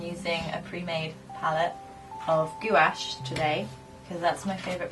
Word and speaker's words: gouache: How do you pronounce it? Gouache.